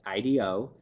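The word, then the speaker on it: IDEO: we were working with I do I'm a design firm out of California and if you want to look that up it's actually I de oh but pronounced I do and they had adopted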